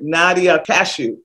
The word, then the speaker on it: Nadia Kashouh: up as perfection so today i am honored nadia cashew yes did i pronounce it properly you did all right is